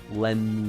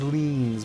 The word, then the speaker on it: Orleans: It's New Orleans. New Orleans. Lens. Yeah, Lens. New Orleans. I don't know why I thought it was Leans.